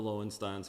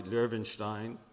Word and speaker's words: Löwenstein: That's what the Lowensteins had. They bought letters of transit in the name of Lowenstein. I'll pronounce it properly. Löwenstein, had the umlaut over it.